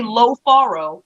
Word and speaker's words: Lofaro: But I'm saying specifically pronounce the O. Say Lo Faro, and then they'll get it.